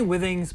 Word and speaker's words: Withings: how you say it people say w things some people say things I say Withings but the withing activity